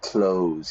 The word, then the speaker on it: clothes: Notice the pronunciation there, clothes. I open the door, I close the door. In the morning, I put on my clothes. It's exactly the same pronunciation, yeah?